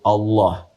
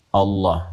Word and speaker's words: Allah: A lagi, kemudian H, dibacanya tetap mengembalikan kepada diksi aslinya, tulisan aslinya dalam bahasa Arab, yaitu Allah. Ingat ya, Allah.